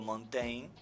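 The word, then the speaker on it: Montaigne: concepto de ensayo es un señor llamado Montain. No se escribe Monteigne, un señor Montain, pero que desde hace un montón de siglos, ¿no?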